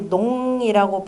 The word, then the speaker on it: 농단: 이런 말들이 여기서 나오죠 그 농담이라고 하는 말은 용용자 에다가 그다음에 끊을 단짝 용용 용용 자 밑에다가 또는 언덕 부자를 써도 마찬가지입니다 다 같이 농담이라고 발음이 되고 너무 잘한다로 2동 농도는 언덕농원이라고